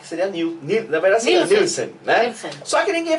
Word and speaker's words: Nielsen: Mas você sabe que você é uma das poucas que fala certo, pronuncia certo. Porque a maioria fala como? Fala Nielsen, só que o certo é Nielsen. Porque ele tem porque é dinamarquês o sobrenome.